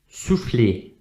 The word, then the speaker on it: souffler: Okay, it's not souffler, but souffler. And at the end, we don't pronounce the letter R, and it's also not pronounced souffler, but it's souffler. Okay, it's a different sound.